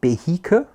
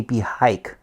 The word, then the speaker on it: Cohiba: puzzled about the pro how you pronounce this this serious in germany very often we say behika uh in other places in the world they say be hike and even if you're